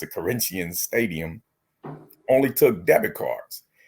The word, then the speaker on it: Corinthians: the train station from Corinthians that's how they pronounce it Corinthians Stadium only took debit cards and so uh